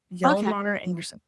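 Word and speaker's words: Hjalmar Andersen: I would have butchered it before this morning when you told me how to pronounce it. Hjalmar Anderson.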